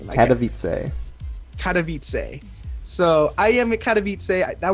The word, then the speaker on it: Katowice: How do you even pronounce the name? Katowice.